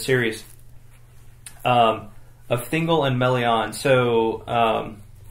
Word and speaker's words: Melian: so um melon yeah I don't know if there's an official pronunciation of her name stimes I would have called it meon malan but I think it's more like melon what do you think um I would probably say it melon yeah um I think